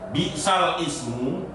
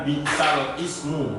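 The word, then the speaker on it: بئس الاسم: Ya contohnya ini, bi'sal ismu itu membacanya bukan bi'sal ismu tapi bi'salismu.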